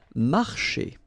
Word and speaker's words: marcher: Marcher. Okay, remember when you combine this C and H here, you get the sound sh, marcher.